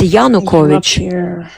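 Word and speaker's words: Yanukovych: So when you talk about topic, you're supposed to, you know, at least know pronunciation of of those people who you're talking about because it's yusheno. It's yanovich.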